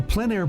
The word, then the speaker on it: plein air: The French pronounce it plein air. Others say plein air.